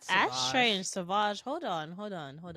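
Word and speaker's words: Sauvage: today smelling like Dior saage I I recognize that anywhere I ain't gonna lie to you I just pronounced this Savage because I wanted it to be fancy I wrote Savage uh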